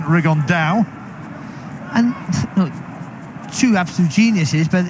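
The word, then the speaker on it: Rigondeaux: on door as he's correctly pronounced with the Spanish accent riggan Dow and Chu absolute geniuses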